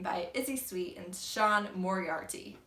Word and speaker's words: Moriarty: Izzy Sweet and Sean Moriarty. I believe it's pronounced the same as the Sherlock Holmes villain.